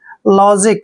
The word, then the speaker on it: logic: Next word LOGIC, एल का उच्चारण ले पढ़ते हैं, ओ को की मात्रा पढ़ते हैं और GI को यहाँ पे जी का उच्चारण करेंगे, सी को हमने कै पढ़ना है, जब भी सी से पहले आई आता है तो सी को कै पढ़ते हैं।